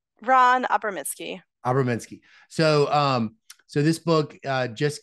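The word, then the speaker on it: Ran Abramitzky: Well, can you tell me how to pronounce Ron Abramsky's full name? I don't think I said it right. Ron Abramsky.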